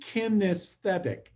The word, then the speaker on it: kinesthetic: The 3 types, write this down, are auditory learners, visual learners, and kinesthetic learners. Kinesthetic, 4 syllables.